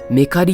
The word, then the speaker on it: 和布刈: ちなみにこれ、メカリって読めます？